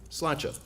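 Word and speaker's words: sláinte: and have one word to say to you slacha now i know it's cilantro because i think a lot of you have probably butchered it over the weekend it's s-l-a-i-n-t-e and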